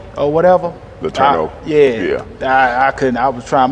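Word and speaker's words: LeTourneau: You had a game high 17 against McMurray, and you had a game high 12 against LaTournay or whatever. LaTourneau. I couldn't. I was trying my best to pronounce that.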